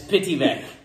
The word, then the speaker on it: Pittyvaich: this pity just kidding this pity vic is that's how you pronounce it right yeah um it's